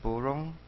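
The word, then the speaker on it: burung: The word next to bird is burong, or gunong, and mi. These are the same alphabets that are used to write 2 different languages. So there's English and there's Malay. So B-U, bu, R-U-N-G, rong, burong.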